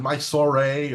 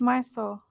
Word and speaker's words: Mysore: Or is it my soiree? Or I don't know. No one ever tells you how to pronounce this stuff. It's Mysore. Mysore?